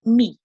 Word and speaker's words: mi: adjectives my in Spanish which is pronounced pronounced me let me hear you say that me great for example if